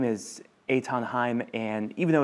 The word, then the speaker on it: Eithan: this explosive story yeah well my name is Aon Heim and even though it's spelled Ethan it's pronounced Aton um but you know I grew up in